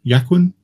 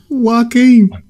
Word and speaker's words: Joaquin: Yaquin? Phoenix? Joaquin.